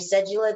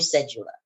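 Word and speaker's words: cédula: But they do like adults, record your passport and your cedula.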